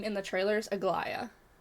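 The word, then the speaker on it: Aglaea: I think it's Aglaia because that's how they pronounce her name in the trailers, Aglaia.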